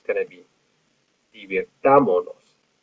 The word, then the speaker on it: divirtámonos: it's going to be divirtámonos. Notice that we had to add an accent three syllables back, nos, mos, and then on the a, divirtámonos, and we had to